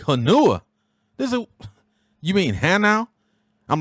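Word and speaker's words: Hanau: where's the bus to hanua so they all kind of looked at each other like this blankets crazy and they was like soldier it is pronounced hannow and you missed your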